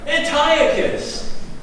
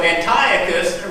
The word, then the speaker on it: Antiochus: This is Antiochus. Did I say it right? Antiochus.